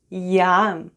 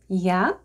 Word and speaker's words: Я: Я.